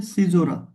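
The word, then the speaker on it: caesura: এরপরে ধরেন যেটা আছে সেটা হচ্ছে সিজোরা উচ্চারণটা কেমন? উচ্চারণটা হচ্ছে সিজোরা।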